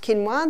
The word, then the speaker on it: quinoa: become familiar with it's spelled quoa but it's pronounced quinoa the Aztec love their quinoa Aussies are starting